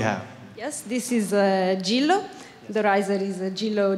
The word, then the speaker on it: Gillo: Simply Gillo.